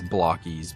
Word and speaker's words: Blokees: how deep into this bloky thing and I'm sure I mispronounce that cuz everybody else says blockies but I think it looks more bloes than blockies that's just me your mileage of course